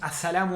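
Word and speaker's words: السلام: de esto de esto a salam sería la paz a la que escribía así el artículo la s r y la m a sadam line no se pronuncia nunca tienen que pronunciar la l de un artículo de una palabra que empieza con la intra solar nunca pronuncia en la l del artículo en las palabras que empiezan con letras solares así que aprendan cuáles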